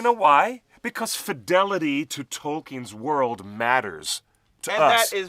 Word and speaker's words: Tolkien: It's Tol with the emphasis T-O-L-L, and the last syllable is keen, as in, I'm keen to meet you.